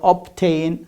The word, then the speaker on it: obtain: But here, it's at the beginning of the word, obtain, subtitle, the first syllables in the middle almost. Okay, here it becomes, you pronounce it.